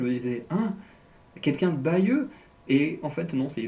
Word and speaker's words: Bayeux: Parce que les deux, la façon de prononcer, Bayeux, Bagneux, c'est quasiment la même chose.